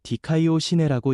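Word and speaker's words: δικαιοσύνη: 의에 이른다는 의미 에라는 말은 헬라어로 디카이오 시내라고 읽습니다. 의는 하나님 앞에서 올바르게 인정되는 신분 하나님께 죄없는 자로 받아들여지는 상태라는 뜻입니다.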